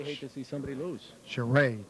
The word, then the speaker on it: Charest: Charest. That's how we pronounce his name, Donnie.